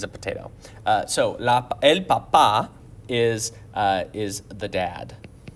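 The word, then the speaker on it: papá: formal than el papa notice the accent mark on papa el papa there's that emphasis on the second a if you say el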